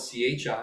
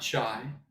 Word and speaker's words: chi: Notice it's spelled C-H-I, and it's not chai, it's not chai, it's chi.